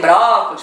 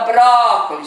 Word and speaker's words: brócolis: já vai ver que a sílaba tônica é o bró. O lis é a última, o có é a penúltima, é o bró. Então ela é o quê? Se a antepenúltima é a tônica, ela é uma palavra proparoxítona.